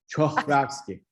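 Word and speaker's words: Czochralski: Ekmel that you get, Chokralski, he was I should correct you, Chokralski.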